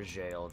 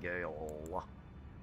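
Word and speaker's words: Gaol: then let's see sewer jailed that's how it's pronounced I've always been pronouncing it Gail yeah it is jail unlocks the sewer jail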